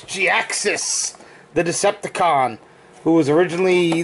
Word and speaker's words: Jhiaxus: like no it's pronounced gi axis no it's pronounced g-axis because that's how he was named i'm sorry that that's